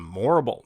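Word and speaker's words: Morrible: The real villain in Wicked has to be Madame Morble. No wonder her name rhymes with horrible.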